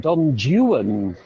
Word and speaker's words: Don Juan: wrote so many others Don Juan or as he called it Don Juan because it rhymes with true one now I'm not a